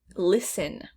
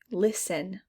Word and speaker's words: listen: don't hear any g listen listen there's a t but there's no t sound listen knee pad here's